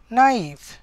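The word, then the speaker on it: knife: कण हो वुल्फ्स तारपरे नाइफ के साइलेंट अच्छे है के साइलेंट अच्छे तो के पढ़ा नहीं जाए तो आम कण कहमा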